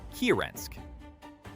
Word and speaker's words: Kirensk: Yakutsk, pronounced Yakutsk, Samchan, pronounced Samchan, and Kirensk, pronounced Kirensk.